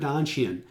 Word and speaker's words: Donchian: and the work that influenced him from Richard Donchian, and that's spelled D-O-N-C-H-I-A-N, Donchian, if anybody's interested.